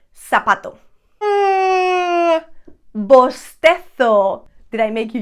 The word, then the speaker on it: zapato: are from south america in most latin american countries the letter z theta sounds like an s however in spain and i know this is a very common sound that you guys like to make fun of and you say that we've got a lisp and makes the sound t h like in third thirsty okay that kind of sound for example i would say zapato but some people from